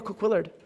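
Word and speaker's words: Couillard: Um, or Kquillard. We really don't know. But I'm a Cookiard kind of girl. I stick with Cookyard, but it might be Kquillard. That's a great point. But that's how it's spelled is C O U I L L A R D. So, it's those double L's that throw you off a little bit. Uh, or throw me off.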